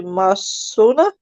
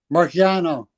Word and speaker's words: Marciano: Boxer is Rocky Masona. Am I pronouncing that right, Eric? Marciano.